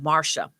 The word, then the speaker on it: Marcia: but it's spelled but it's pronounced marsha okay marsha i got